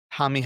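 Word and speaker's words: Jaime: the Jamie Jaquez resurgence. Good job by Is now you. the time to tell you that his name is Hami? What do you mean, Hami? Hami Jaquez is how you pronounce it, but it's fine.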